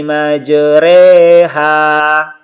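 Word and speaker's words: مجراها: sekalian di bagian bawahnya cara membacanya itu fathah yang dimiringkan ke kasrah dan Alif yang dimiringkan ke ya saya sehingga dibaca eh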